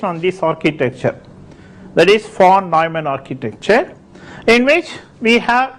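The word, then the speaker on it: von Neumann: fact this uh uh is a German name so you have to pronounce as F nyman and even today for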